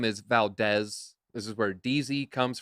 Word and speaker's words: Valdez: I'm like, my name's not Valdez, it's Valdez. Like, if you know Spanish, the E is pronounced eh.